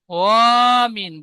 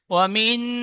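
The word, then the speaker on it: وَمِنْ: বলেন রিডিং বলেন ওমিন সারিদিন সুন্দর পড়েছেন তো এখন ওমিন বলে ও টান দিয়েছেন টান হবে না ঠিক এমন পড়বেন ওমিন হাসিদিন হাসাদ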